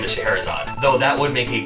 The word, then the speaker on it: Scheherazade: I don't know how to say it. It's Scheherazade. Scheherazade.